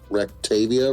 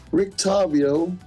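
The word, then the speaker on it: Rictavio: and his name is re re I didn't pronounce it right ravia ravia ravio Rick r i c t a v IO Rick to pickle Rick we get it Rick tavio is that you Mr circus performer where are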